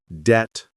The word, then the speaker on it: debt: Okay, we learned that many English words have silent letters like debt, island, and salmon, right? No B, no S, and no L.